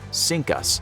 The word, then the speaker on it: CINCUS: The fleet had previously been known as CINCUS, pronounced “Sink Us”.